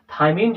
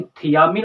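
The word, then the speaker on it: thymine: इसमें ध्यान दे लेते हैं एक बात का थायमीन जो वर्ड है टी एच वाई एम आई एनई स्पेलिंग प ध्यान दीजिएगा जो थायमीन होता है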